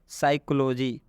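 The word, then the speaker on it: psychology: यहां पर लिखा है साइकोलॉजी यहां पर देखिएगा के बाद एस आया हुआ है इसलिए स्पी का उच्चारण हम नहीं करेंगे यहां पर हिंदी में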